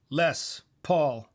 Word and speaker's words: Les Paul: Lemon Eye says Les Paul, Le Paul. Any French people? 2 words, both solid emphasis. Lawrence, Petros. Les Paul. The less because I'm not a weirdo.